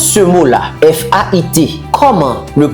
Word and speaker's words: fait: F-A-I-T. Comment le prononcez-vous? On le prononce fait. Pourquoi? Il n'y a pas de consonne prononcée après fait.